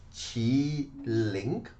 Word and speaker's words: Qiling: spelled queening it in in chinese language is chi link and the proper way